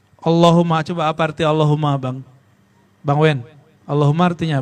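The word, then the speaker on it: اللهمّ: Kalau ada tasdid begini, ini dipanjangin gak aslinya? Allahumma. Ya kan? Tapi antum kalau bacanya gimana? Allahumma. Salah itu. Kalau mau dapatkan rahasia baca Allahumma, hum-nya dipanjangkan. Allahumma. Ini yang malah salah. Di Allah-nya dipanjangin. Allah.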